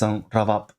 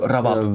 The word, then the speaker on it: ravab: The lenition of the B between vowels, like the Spanish V. So ravab. In Uyghur, it's called the ravab.